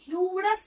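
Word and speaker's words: humorous: फिर देखते हैं ह्यूमरस मैन, इसको ह्यूमरस हा ना पढ़ेंगे, ह्यूमरस, ह्यूमरस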